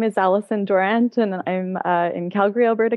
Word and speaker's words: Dawrant: So Allison Dawrant, do I pronounce it correctly?